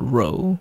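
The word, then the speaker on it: rho: funny looking p is called row which is spelled r h o so that's the symbol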